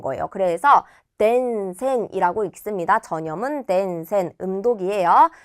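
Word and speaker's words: 伝染: 그래서 덴센이라고 읽습니다. 전염은 덴센, 음독이에요.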